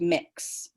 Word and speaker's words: Mx: mrs or mr and it's pronounced mix mix anything else feel